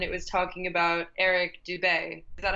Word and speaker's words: Dubay: And I was reading a Guardian article, and it was talking about Eric Dubay. Is that how you pronounce his name? Yeah, Dubay.